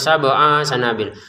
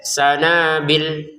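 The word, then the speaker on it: سنابل: Jangan sabanabil. Untuk kata sanabil yang panjang cuma nun ya bnya enggak panjang. Jadi jangan dibaca sabanabil enggak ada enggak ada ya di sini. Jadi tetap dibacanya pendek sanabil gitu.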